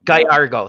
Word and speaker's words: Gallardo: I can never pronounce this guy's name. Geraldo, Giovanni. Oh, Gallardo. Gallardo, thank you.